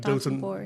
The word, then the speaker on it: Dotonbori: of the very popular Dotonbori. Did I mispronounce it? No, I think that's how you say it. Dotonbori.